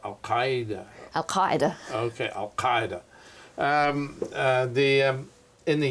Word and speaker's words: al-Qaeda: I always pronounce that word wrong because I'm not so good at my Arabic. I should say, well, al-Qaeda.